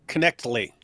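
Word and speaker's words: Knechtle: Yeah, it's apparently Connectly. Connectly. Yeah, that's what I've been saying too. I've been saying Connectly also.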